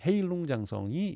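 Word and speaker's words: 헤이룽장성: 그리고 흑룡강성이라고 하는 그 중국식 발음으로 헤일룽장성이 여기 있습니다.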